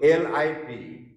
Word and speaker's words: lip: For example, L-I-P, lip. L-E-A-P, lip. We pronounce it the same way. We don't differentiate between the long and short vowel.